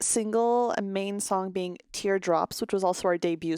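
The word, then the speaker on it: T*DERE: so here's the group capital t asterisk d e r e pronounced tear drop we are a nine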